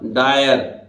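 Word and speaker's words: dire: बोलता है, ठीक है, आई आर ई अगर किसी शब्द के अंत में आ जाए तो इनको उच्चारण आयर आयर होता है। ठीक है, जैसे देखिए डी तो डा, आधा आयर, इसका मतलब डायर, और डायर किसको बोलते हैं, भयानक।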